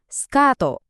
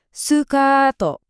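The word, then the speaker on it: スカート: Jadinya skato atau sukato. Dengerin deh, ada vokal panjangnya di tengah. Sukato.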